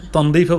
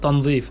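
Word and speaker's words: تنظيف: তনজিফ যেটা আরবিতে তনদিফও বলে, উচ্চারণ তনদিফ বলে, বা উচ্চারণটা সঠিক হচ্ছে তনজিফ, পরিষ্কার।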